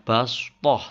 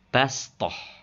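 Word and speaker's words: بسطة: atasnya ini dibaca Sin jadi membacanya Bukan baskoh tapi bastohsin dibacanya ya maka mulutnya meringis bastoh Coba kita Praktekkan contoh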